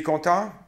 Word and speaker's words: content: Content. Don't hear the T.